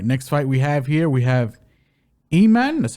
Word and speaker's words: Aiemann: So, all right, next fight we have Aiemann.